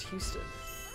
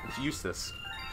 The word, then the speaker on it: Eustace: you say his name i thought it was houston uh eustis eustis eustace eustis went to um they went